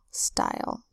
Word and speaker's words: style: Style is also a one-syllable word with a single vowel sound, the Y that makes a long I sound, and a silent final E. S-T-I-L, style.